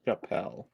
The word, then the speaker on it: Chappell: Also, I'm pretty sure it would be pronounced Chappelle.